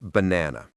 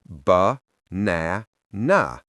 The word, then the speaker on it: banana: Take the word banana. We don't say ba na. We say bna na. The first and last a become schwas.